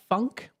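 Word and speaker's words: phonk: noticing um one of them is called uh Funk it's spelled p h o n k it's kind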